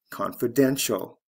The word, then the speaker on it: confidential: Confidence, confidential. First syllable to third syllable.